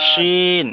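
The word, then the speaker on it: شين: যা যা scene scene scene, জুয়াদ শিন, এই শিনের উচ্চারণটা আসছে না। প্রথমটা হবে সিন সিন, দ্বিতীয়টা হলো শিন। সিন শিন, শিন বলার সময় মুখ থেকে একটু সিন হাওয়াটা বেশি বার হবে।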